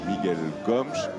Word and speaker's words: Miguel Gomes: avec ce cinéaste portugais on prononce Miguel gomch c'est le cinéast je